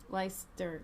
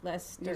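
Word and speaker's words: Leicester: people to Jesus Christ you know how to pronounce it's just Lester leister Lester just pronounce it Lester Lester Lester thanks for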